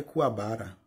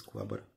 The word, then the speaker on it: Kuwabara: E Kuwabara é Kuwabara. A gente diz Kuwabara.